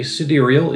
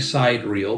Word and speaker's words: Sidereal: in vassel girlo main I say siderial it that's the way they pronounce it as far as I can tell from their menu it looks like side reel but cederal is what it says on the menu and we've got another